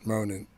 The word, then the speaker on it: Ronin: Ronin, and it tells you how to pronounce it here, Ronin.